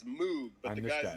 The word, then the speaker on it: Moog: looks like it's Moog, but I'm the this guy's guy. name was Dr. Robert Hamilton. Moog. That's how he pronounced his own last name.